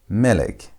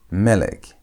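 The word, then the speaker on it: מֶלֶךְ: You put the emphasis on the first part at the beginning of a word.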